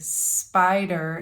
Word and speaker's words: spider: So, for example, with spider, the first syllable in the word spider is spy. So the syllable S-P-I is an open syllable and the sound of the vowel I is long. So we say spy and then der. So of course we have spider.